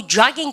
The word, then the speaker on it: jogging: J 사운드가 어때요? 그냥 조깅하고 jogging해서 생긴 꼴도 어때요? jogging해서 입을 밀어 쫙 빼잖아요. 그렇습니까? jogging 하셔야 되지.